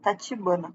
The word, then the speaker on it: Tachibana: Tipo, eu pronunciei o nome dela errado, Tachibana, tá?